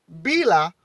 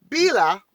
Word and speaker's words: Bila: creating rivers and valleys with its massive body bila which is spelled b i l a listen can you listen b b-i-l-a bela bila was the sun woman you see how